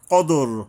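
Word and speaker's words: الْقَدْر: কদর কদর কদর মানে হল এইযে দালের উপরে কলকলা করতে হবে।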